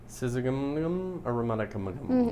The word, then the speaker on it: Syzygium aromaticum: Because I love the way you pronounce Latin names. Yes, it's Syzygium aromaticum.